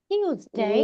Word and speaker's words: Tuesday: Those are wrong pronunciation. So what we have to say? We have to say Tuesday, Wednesday.